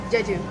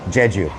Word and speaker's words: Jeju: How do you pronounce the name of the restaurant? Jeju. Jeju. Okay. I got it wrong. Thank you. Jeju.